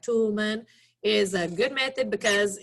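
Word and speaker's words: Toulmin: The Toolman method, it's pronounced like Toolman, is a good method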